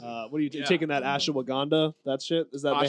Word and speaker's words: ashwagandha: ashwaranga root is like don't think that's it, bro. It's No, a he- 1,000%. It's Yes, it is. No, no. Look up. He's got it wrong. It's ashwagandha, I think.